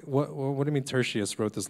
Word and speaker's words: Tertius: Tertius? Tertius.